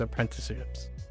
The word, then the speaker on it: apprenticeships: You could qualify those as apprenticeships, or shadowing and apprenticeships. Yeah. これは私のパスポートじゃないです。これは A lot of the traditional Japanese craftsman stuff still have lifelong apprenticeships. Apprenticeships. I keep adding an extra syllable.